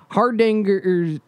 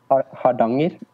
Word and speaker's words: Hardanger: For one particular glacier, Hardanger's Glacier. Do you want to pronounce that for us, Jan? Hardanger.